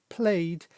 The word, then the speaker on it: played: that's happening now, whereas played is when we have played in the past. But in this one, it's not pronounced ed, it's just simply pronounced d.